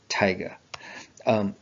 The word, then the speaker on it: Taiga: But I think Taiga is the proper pronunciation, like the rapper, Taiga.